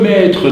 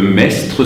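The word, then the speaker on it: Maistre: le maître, c'est le mestre, si vous voulez, en 2 mots, le mestre, le maître, puisque le S, il n'y a pas besoin de le prononcer, hein, ça fait un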